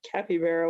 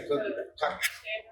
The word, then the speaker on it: capybara: Where you forgot what a capybara was.